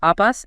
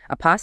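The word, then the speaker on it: अपस्: Apas, accent first syllable, means work. Apas, accent second syllable, means active.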